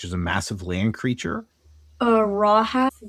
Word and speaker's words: Rahab: Rahab, that's how you pronounce that.